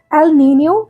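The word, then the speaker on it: El Niño: लिखने में तो ये एल नीनो और ला नीना ही लिखा जाता है, बट इसका प्रोनाउंसिएशन एल नीनियो और ला नीनिया है।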